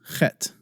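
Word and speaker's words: חית: you would really emphasize het and it's sometimes written as in English is transliterated as a CH but it's not pronounced cha it's pronounced ha so CH as in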